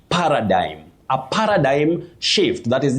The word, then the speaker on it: paradigm: You say paradigm, a paradigm shift.